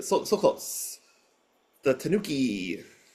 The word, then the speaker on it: tanuki: Takogi, you're phonetically so so close. The Tanuki.